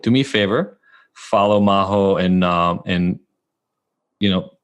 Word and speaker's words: Majo: it's my name at Maho my name is spelled with a J so it's m AJ o and then you'll find